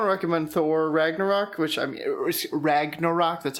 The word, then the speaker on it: Ragnarok: I want to recommend Thor Ragnarok, which, Ragnarok, that's how you say it.